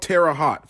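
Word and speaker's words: Terre Haute: in the comments and it's called Tera hot for anyone that goes in on me on the comments I know it's called Tera hot Indiana not Tera hotti Tera hot but anyways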